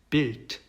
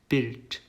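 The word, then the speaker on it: Bild: 그래서 이것도 일반적으로 쓰이는 발음과 그다음에 단어의 끝에 왔을 때의 발음이 달라요. 그래서 한번 읽어보면은요. builder, builder, built, built 이렇게 되죠.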